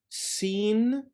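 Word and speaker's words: سين: the arabic alphabet are seen seen and sheen sheen seen as the equivalent to the letter s sheen is equivalent to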